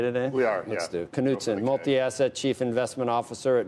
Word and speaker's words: Knutzen: He is, are we pronouncing it okay today? We are, Let's do. Knutzen, multi-asset chief investment officer at Neuberger Berman.